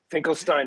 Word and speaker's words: Finkelstein: pronouncing your last name tell me how did i do it finkelstein finkel finkelstein i think is that anywhere close i think i'll okay perfect finkelstein is perfect amazing so you got